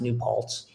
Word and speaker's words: New Paltz: And I think the SOS triathlon, and it's pronounced New Paltz, is multiple disciplines.